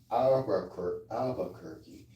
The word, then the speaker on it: Albuquerque: anybody here because again that's how you pronounce Albuquerque. It's like four syllables. I don't know if it's four syllables or five syllables.